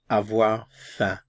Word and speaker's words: avoir faim: And this sound here, this symbol in the IPA represents the E sound in red in English, so eh.